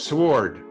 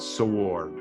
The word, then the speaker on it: sword: comes across a word s-w-o-r-d sword sword i say anna listen to it it's not sword it's sword you have to listen